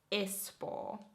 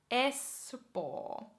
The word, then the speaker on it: Espoo: You would pronounce that Espoo. Espoo. Espoo.